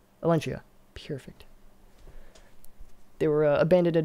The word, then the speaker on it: Elentia: How do you pronounce that, by the way? Elentia. Elentia.